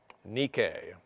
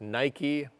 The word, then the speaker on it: Nike: winged goddess of victory nikkei whose name comes down to us today pronounced nike those expensive shoes that